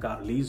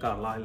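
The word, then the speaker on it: Carlisle: पे एक बिल्डर है, हम जो इंडियंस हैं उसको प्रोनाउंस करते हैं कार्लीज होम्स, और जो ऑजियों को प्रोनाउंस करते हैं कार्लाइल होम्स।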